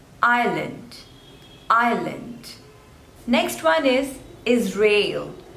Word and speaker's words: Israel: Ireland next one is Israel two labels is Rail and the stress is on the second one rail is real is